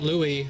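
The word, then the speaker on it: St. Louis: silent letters I mean technically St Louis has an S but you don't pronounce the S even though we do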